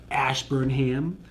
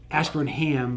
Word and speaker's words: Ashburnham: where there are actually towns that end with the HAM, that's what you say is the ham. Like, so Framingham, that's how that's pronounced, not Framingham. You also have Eastham, Ashburnham, right?